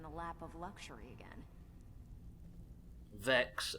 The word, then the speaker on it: Vex: Vex rhymes with Pokedex.